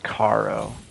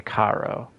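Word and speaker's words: Charon: people to death and it's spelled c h a r o n so I'm going to say Caro the old gravekeepers are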